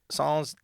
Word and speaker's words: sans: I've always heard it pronounced sans. Say what? It is sans. sans. It's sans. No, it's it. It's sans. It's French, dude.